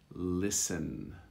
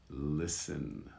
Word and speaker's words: listen: thomas and then finally sometimes it's silent you write the t but you never pronounce it or articulate it listen listen alright so you have